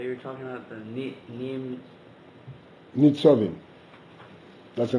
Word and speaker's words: Nitzovim: How do you pronounce the topic that you're talking about, the Nitzovim? Nitzovim. That's the name of the Parsha. Nitzovim.